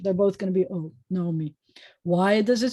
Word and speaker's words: Naomi: So this is always going to be Naomi and or Naomi, however you pronounce either O or O, but it's got to be the same one. It's not going to be Na, O, me.